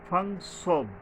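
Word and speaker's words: ص: গিয়ে মানে হালকাভাবে সফলি মিসবে আর কি ফারাগাতা সদ এইযে সদ সদের উচ্চারণে সাবধান হতে হবে সদটা হল জিহ্বার আগাটা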